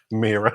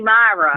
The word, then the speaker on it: Myra: Mira. My era. Right. Why are you calling me Myra? Mira, can you turn your camera on? Myra. That's how your name is spelled.